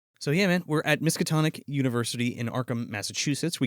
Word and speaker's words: Miskatonic: Makatoma. Miskatonic.